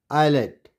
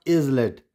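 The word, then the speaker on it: islet: बना यल आयल एंड आई एस एल ई टी आयलेट इट्स नॉट इज लेट आयलेट और यहां पर ए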